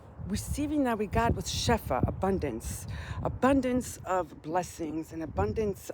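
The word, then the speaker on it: שפע: So the receiving that we got was shefa, abundance of blessings and abundance of miracles in the last few weeks, right?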